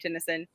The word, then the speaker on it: Tennyson: we say this how what you pronounce it like Tenny son yeah well that's I was